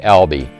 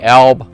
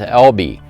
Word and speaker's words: Elbe: reservation for the lb it is pronounced alby some resources online had me saying elb but after i talked